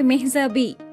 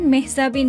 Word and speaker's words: মেহজাবীন: জনপ্রিয় এই অভিনেত্রী জানিয়েছেন তার নামের সঠিক উচ্চারণ আসলে মেহযাবি যেখানে শেষে ন উচ্চারিত হয় না।